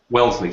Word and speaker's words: Wellesley: i mean it's well is it wellesley is that the correct pronunciation oh yes it is it's wellesley wellesley sorry so the wellesley